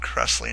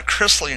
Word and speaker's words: Chrisley: crest what is it maybe it's not cressley knows best chrisley knows best it was something like that i was a little little off on the on the pronunciation it's uh chrisley knows best it's just